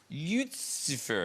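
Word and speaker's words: Lyutsifer: your villain is called is it pronounced lucifer saffin uh lucifer yuzifer that's good saffin yeah oh that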